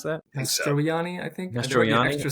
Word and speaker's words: Mastroianni: Is that how you pronounce that? Mastroianni, I think.